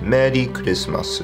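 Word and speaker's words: メリークリスマス: will be merry Christmas the same Merry Christmas it will just be pronounced Matty Christmas oooh Mady dismiss it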